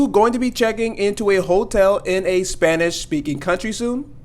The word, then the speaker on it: hotel: be saying hotel, and we're not going to be saying the H here because the H is silent. So hotel and not hotel.